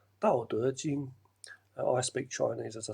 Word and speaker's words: Tao Te Ching: You may know him in the West as Lao Tzu, who wrote the Tao Te Ching book, but it's actually pronounced Dao Te Ching.